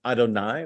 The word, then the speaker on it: Adonai: Like that's a name that in Shul we pronounce Adonai, which is Hebrew for like my Lord, my Lord's really.